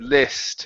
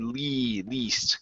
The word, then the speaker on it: least: would react to it last time you said list it was more of an e okay this time was good Le least okay good um next